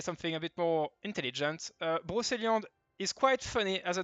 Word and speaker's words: Brocéliande: It does matter because the fourth skill, Blade of Brocéliande, that's how you pronunciate it for the biggest YouTuber out there that were scared to try it.